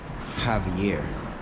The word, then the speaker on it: Javier: This man's name is Javier, not JV.